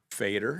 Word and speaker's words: Feder: Will and I are talking with Feder and uh Fader. Fader, I'm sorry. I apologize. Fader. My name's been mispronounced my whole life, so no big deal.